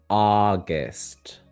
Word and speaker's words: August: August. August. So, here actually, you're doing the first sound the aw very well. The second sound is a schwa.